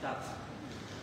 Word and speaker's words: Charged: Mereknya charge, teman-teman. Bacanya ya charge.